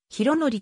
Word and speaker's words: 宏成: 所属した 7 構成は博紀と読むありがとうございます